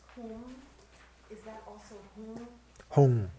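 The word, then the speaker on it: hung: For me it comes out home, but I see it written as home. No, H-U-N-G. Is whom Sanskrit? Yeah, Hong. It represents the Buddha's mind, wisdom.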